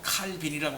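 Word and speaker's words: Calvin: 그래서 이제 요즘 들어서 칼빈이라고 하지 말고 뭐라고 부르라고? 깔뱅이라고 부르라. 깔뱅이라고 해야 된다. 왜 그러면 프랑스 사람이니까 제 이름을 불러야 된다 이거지. 칼빈이라고 부르는 건 영어에서 부르는 거야, 영어. 우리는 영어로 배웠기 때문에 다 칼빈 그러지만 원래 이 사람은 프랑스 사람이란 말이야. 프랑스 사람의 이름을 이러니까 칼뱅이라고 해야 된다.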